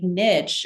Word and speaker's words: Niche: And they're going to something like Niche, uh, on the the right the image on the right, and I I promise that's the correct pronunciation. I've worked with them directly. Uh, so Niche is a a research tool to compare universities.